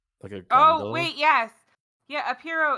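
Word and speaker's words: pirogue: dugouts it's not so it's spelled like pie rogue so it's not the clown spelling it's just the the cajun the french cajun or creole word uh all right it's piro let's get on the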